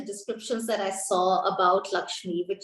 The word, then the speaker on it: LXME: And I think she's also now the founder of LXME, very interestingly spelled LXME, Lakshmi, but pronounced Lakshmi, possibly India's first personal finance app for women.